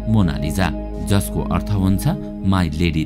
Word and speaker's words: Mona Lisa: मोनालिसालाई इङ्ग्लिसमा MONALISA लेख्ने गरिन्छ, कोही यसलाई मोनालिसा भन्दछन् त कोही मोनालिजा भन्ने गर्दछन्, तर इटालियाली भाषामा यसको सही उच्चारण हो मोनालिजा, जसको अर्थ हुन्छ माई लेडी लिजा।